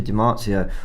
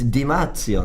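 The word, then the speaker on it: Di Marzio: don rugby channel like did you pronounce it wrong well i pronounced it right just the app i just butchered it it's dimazio there i am going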